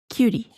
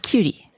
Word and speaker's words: Qt: I believe it's pronounced cutie I believe it's pronounced cutie cute uh I know QT